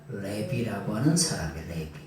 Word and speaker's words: 레비: 근데 원래는 뭐냐? 레비라고 하는 사람이 레비.